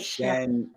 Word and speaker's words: Xian'ari'el: Anyway, uh Xian'ari'el. Oh gosh. The Um the xi is like Sh- yeah, like Xian'ari'el. Xian'ari'el.